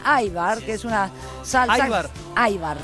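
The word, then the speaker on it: ajvar: Aibar. Se escribe ajbar, se dice aibar.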